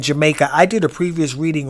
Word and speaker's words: Jamekia: So, and her name was pronounced Jamaica. So forgive me if I keep bouncing back and forth between Jamekia and Jamaica. Some people pronounce her name Jamekia because I watched a few podcasts.